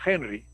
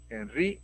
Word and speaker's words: Henri: sería ahí si no sería una y sería henry y acá sería de repente becker el no como es francés henri becquerel y así hay una serie de nombres extranjeros que nosotros tratamos de pronunciarlo como si fuese en inglés pero no es el